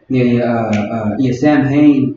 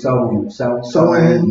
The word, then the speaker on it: Samhain: I knew it was Samhain is what it's pronounced right now. Back then it was Soin.